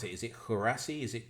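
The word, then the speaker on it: Guirassy: instance, we've got is it how do you pronounce it? Is it Hurasi? Is it Gurasi from Stuttgart?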